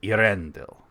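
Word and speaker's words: Eärendil: And I'm putting too much emphasis on that because I'm showing that it's a second syllable, but it's Irendel.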